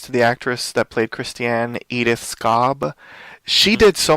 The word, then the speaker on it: Christiane: Christiane, yes.